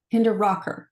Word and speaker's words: Hinderaker: Um, Hinderker Hinder Rocker like rock and roll.